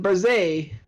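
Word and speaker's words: Barzai: My companion, Barzay, that's how his name is pronounced, once scaled a peak only a fraction as sacred, and he was never seen nor heard from again.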